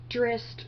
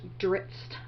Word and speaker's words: Drizzt: I always mispronounce that, and I have people tell me it's Drizzt, Drizzt. I've heard so many different ways, and I've been following the series a long time. I just call him Drizzt in my head.